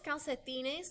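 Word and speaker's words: calcetín: boltos are boots los calcetines those are socks a single calcite um sock is l-calcetine and there's an accent on the eye la camisa is your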